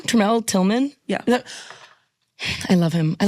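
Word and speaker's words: Tramell Tillman: Tremel Tillman?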